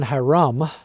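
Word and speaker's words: Hyrum: Well, I am in downtown Haram. H Y R U M. That's how it's spelled.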